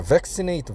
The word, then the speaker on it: vaccinate: 그다음에 AT로 끝난 말의 액센트의 위치는 앞에 음절에 있어요. 그러니까 C가 아니고 V에 있겠죠. 그래서 vaccinate가 맞습니다.